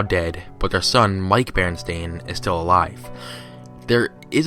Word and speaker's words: Berenstain: In that linguistic region, the name tended to come out something like Berenstain. Since that's how the name was originally documented, it has always been spelled that way by our family, and it has always been misread and mispronounced by nearly everyone. It has always been the Berenstein Bears.